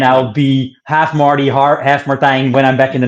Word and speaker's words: Martijn: It's Martine in Dutch, but that's very hard to pronounce usually.